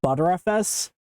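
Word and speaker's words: Btrfs: oss containerized apps and I keep hearing people uh pronounce this as butterfs but shouldn't that be better fs I mean the logo is butter so like if I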